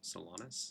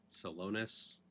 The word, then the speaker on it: Solonus: And yeah, that is how you you pronounce the name is Salonus. It's not Solonus.